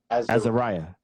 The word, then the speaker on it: Azeriah: question real quick um how do you say your last name marcus azura azariah azariah okay i like that marcus